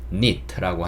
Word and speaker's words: knit: 니트라고 합니다 니트 그 knit인데 k는 발음되지 않아요 이런 걸 영어에서는 묵음이라고 합니다 무금 써 있지만 발음하지 않는 그런 알파벳을 우리는 묵음이라고 해요 그래서 뒤에 있는 nit만 발음이 돼서 neet라고 합니다 그래서 우리가 그 입는